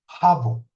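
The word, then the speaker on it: חבו: s het bet vaf het bet vaav que se pronuncia jao y este es el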